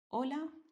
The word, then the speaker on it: hola: This letter in Spanish is totally silent.